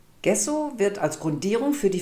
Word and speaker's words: gesso: Gesso should actually be pronounced Dschesso, because it comes from the Italian and translated it means: plaster of paris .